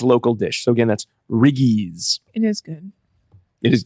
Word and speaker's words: riggies: you the first one now it is riggies RI GG I I Diana put an apostrophe in there I don't think there is an apostrophe in there we knew how to pronounce it oh okay it's riggies if if you have